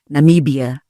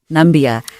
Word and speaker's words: Namibia: and Africa there's also his infamous mispronunciation of Namibia the country as Nambia to be joined